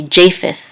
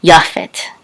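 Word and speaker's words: יפת: so it's yaffet yaphet in English we say japheth now anciently the Tav without the um the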